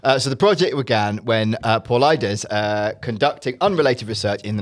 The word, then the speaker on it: Paulides: So the project began when Paul Ides. Okay. I said at the start, I'm not going to pronounce his name wrong.